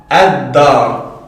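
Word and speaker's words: الدار: Lorsqu'on aura une lettre solaire qui suit l'article, donc alif lem, on ne prononce pas le lem. Donc, ici, on dira ad-dar. Ad-dar.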